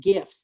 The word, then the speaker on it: gif: of meme activity and Gifts that's a hard g g GG a gif hard G it was like oh it's a gif it's a gift hard G right these are used